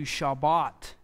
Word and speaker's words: Shabbat: And the noun form, you'll have that dogish line in there that will give you the B pronunciation. So Shavat turns into Shabbat, Sabbath.